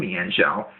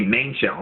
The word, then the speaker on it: Mienshao: So just straight away from that, you know, I'm going to Volt Switch and go right into my own Mienshao, or excuse me, Mainshao, it's pronounced.